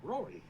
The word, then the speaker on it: Rory: the name is literally just how the Japanese pronounce lolly. Ah, Rory.